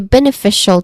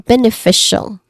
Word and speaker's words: beneficial: We focus on beneficial, which has four distinct sounds, starting with ben. Ben has a short A vowel sound. Second syllable is a short A vowel sound in itself, and then followed by fe, short E vowel sound, and it ends with shall with an SH sound. So we get beneficial. Fee is the stressed syllable here.